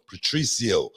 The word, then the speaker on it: Patricio: I'm talking about, but back to Patricio. That's the way you pronounce it, Brad. I know you was wondering. Patricio.